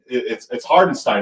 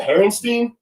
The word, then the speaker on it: Hartenstein: It's Hardenstein, right? Is that how you say it? Is it Herrenstein or Hardenstein? Hartenstein.